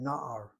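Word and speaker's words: נער: The accent is on the second to last syllable with 2 patachs. First patach, irregular, open syllable, gets accented, the word na'ar.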